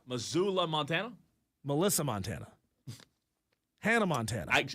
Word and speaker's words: Missoula: That's pronounced Missoula. Missoula Montana.